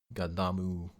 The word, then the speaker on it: Gundam: Gundamu. There's an ooh sound at the end of Gundam.